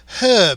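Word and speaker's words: herb: U.S and he said as you say uh we say her because there's an effing H in it so laughs yes well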